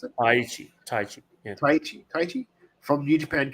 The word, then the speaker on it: Taichi: Is that how you pronounce it? Taichi.